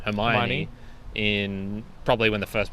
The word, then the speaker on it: Hermione: the first book i in my head read it as hermione and then for years later even uh i think i learned that it was meant to be pronounced hermione in probably when the